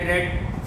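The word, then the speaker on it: read: ये रीड रेड form of verbs हैं। रीड की रेड, लेकिन स्पेलिंग वही होते हैं। प्रोनाउंसिएशन जो सेकंड और थर्ड फॉर्म का होता है वो रेड होता है।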